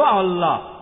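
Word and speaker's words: Allah: ঈশ্বরের একটা নাম হলো আল্লাহ লেখা হয় আই এল এ কিন্তু উচ্চারণের সময় শব্দটাকে বলা হয় আল্লাহ আশা করি উত্তরটা পেয়েছে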